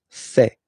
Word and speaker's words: fait: Il, masculin, and then elle, féminin, fait. Final T, not pronounced.